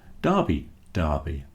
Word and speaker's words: derby: So that is the closest thing to a derby. So there you go. That is the history of why big sporting events are called derbies, pronounced Derby to rhyme with Barbie.